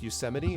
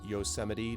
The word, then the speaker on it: Yosemite: I was gonna say, you go to like Yosemite and you're talking about some of the which for the record is pronounced Yosemite, not Yosemite, like a certain world leader of ours decided to mispronounce it anyway.